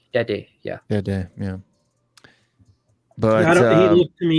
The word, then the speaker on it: Tete: Tete, yeah.